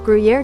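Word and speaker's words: Gruyère: How do you pronounce Gruyere pronunciation? What? Gruyere. Gruyere cheese.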